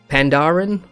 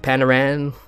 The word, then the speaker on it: Pandaren: any Chinese in chat, Ren in Chinese means people. So the way I would pronounce it is Panda Ren. I don't know how you guys pronounce it. Pandaran.